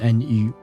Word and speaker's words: nu: what is new um in French new it would be pronounced new and you is pronounced new and um uh it means naked in French new nu nu means naked so